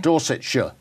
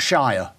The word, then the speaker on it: Dorsetshire: Dorsetshire. Not Shire. Mm-hmm. It's a Shire horse. Okay. But that's not how we say our counties.